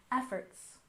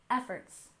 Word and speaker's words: efforts: syllable conservation conservation and efforts we stress the first syllable efforts efforts altogether conservation efforts and